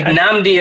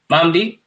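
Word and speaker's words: Mamadi: You seen they brought our boy Namdi up, dog. Mamdi? Yeah, Mamdi Diakite. Yeah, that's how you say it.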